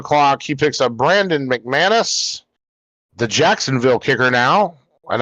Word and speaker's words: McManus: he picks up Brandon McManus the Jacksonville kicker now and I we enjoyed him in Denver I'll say that much almost bought his jersey gross and it's pronounced Mickey Manus and you have the